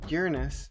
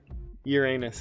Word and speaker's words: Uranus: I've actually heard that it really is Uranus is the actual preferred pronunciation. Oh, well. Yeah, but Carl Sagan and Cosmos in the 70s was like, Uranus, to keep people from... laughing hysterically. Yeah, and making, you know, jokes like smashed Uranus.